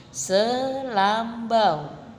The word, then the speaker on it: selambu: ke lendha i Hai ada juga contoh lain yaitu selambu selambu diakhiri huruf vokal u2k pengucapannya jadi selambau Hai ada lagi sepatu